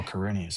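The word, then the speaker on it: Quirinius: Oh, Corinius.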